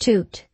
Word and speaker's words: tutu: life for some time tutu pronounced toot is a plant which